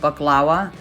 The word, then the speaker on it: baklava: throughout this whole video you're gonna hear me call it baklava that's the way assyrians pronounce it moving on i'm gonna